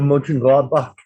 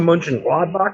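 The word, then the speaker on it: Mönchengladbach: i i thought that he said more along lines of back than bach which is i know nitpicky yeah it's i think that's the brazilian thing coming out there that's how they would do that with a b-a-c-h maybe uh like the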